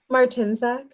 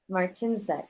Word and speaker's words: Martinsek: Martinsek. Martinsek. I'm pronouncing the emphasis on the wrong syllable.